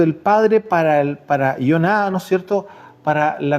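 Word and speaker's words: יונה: El tema de hoy es la señal de Jonás. ¿Usted sabe cómo se dice Jonás en hebreo? Se dice Joná, no se dice Jonás como se lo conocemos, es Joná.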